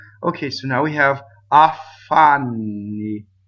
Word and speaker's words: affanni: Okay, so now we have affanni. Double F. Affanni. Affanni. Not affanni. No, stop. See, so double F, double V, double B, they do not stop phonation, right?